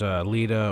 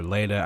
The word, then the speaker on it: Leda: So first off, there's Leda or Leda. I think I prefer the Leda pronunciation, but she was once an Oathseeker Knight.